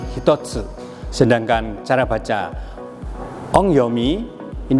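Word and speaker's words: 一つ: Kemudian kanji mempunyai cara baca yang saya katakan sebelumnya tadi, bahwasanya cara baca kungyomi dari kanji ini, kanji 1 dibaca dengan hitotsu, sedangkan cara baca ongyomi ini dibaca dengan ichi atau ich.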